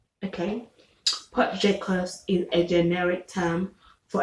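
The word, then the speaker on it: potjiekos: looks like okay um number nine is pot j cos okay which is about p o t j i e k o s okay pot jacobs is a generic term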